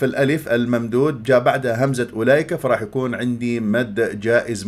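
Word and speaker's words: أولئك: يرضى عنكم فاذا باياتنا اولئك هؤلاء هذه الواو فوقها الصفر المستدير تكتب ولا تلفظ فالبعض يقراها اولئك انت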